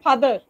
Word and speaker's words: father: Father, R is absent. So, which syllable is given importance? Two syllable? Fa and the father? Fa is given much importance and the is given less importance.